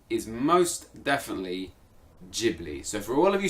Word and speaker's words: Ghibli: Italian / Arabic is Ghibli with a hard G no doubt about it that's absolutely true however the Japanese pronunciation is most definitely Ghibli so for all of